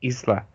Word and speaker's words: Isla: I thought Isla, I-S-L-A, that it's pronounced Isla.